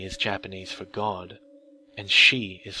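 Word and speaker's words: 四: Japanese for God, and Shi is 4. 4 also has a special connotation in Japan, though. It's considered an unlucky number, because it's pronounced the same way as their word for death.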